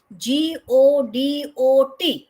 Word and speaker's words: Godot: And the spelling is Godot. Godot. So T is silent.